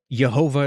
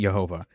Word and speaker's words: Jehovah: Jehovah is something else that people suggest, but it probably wasn't Jehovah. It was probably Yahweh.